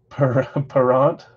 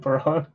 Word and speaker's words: Perron: pull vegas golden knights paront is that how you say it perron thanks dylan it's not bernie parent something like that parent paront okay let's